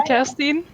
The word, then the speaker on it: Kerstin: Okay, hi, I'm Kerstin, which is the correct way to pronounce it, but I'm not picky about it.